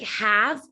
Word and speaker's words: have: need to memorize that even though the a is a short a sound it's going to have an e at the end and the e will be silent so have h-a-v-e sight